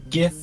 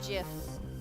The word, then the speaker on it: GIF: know like oh it's Jiff it's like no G there and there is no discernible reason within the English language that it should be pronounced like a j that is a g